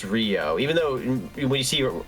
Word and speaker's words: Ryu: pretty sure it's Rio I'm pretty sure it's pronounced Rio in this game even though it's spelled r Yu so it's Rio though